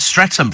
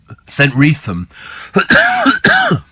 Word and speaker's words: Streatham: Steve, I've heard Streatham pronounced Streatham, says Dan. Yes. So it's St. Wreatham.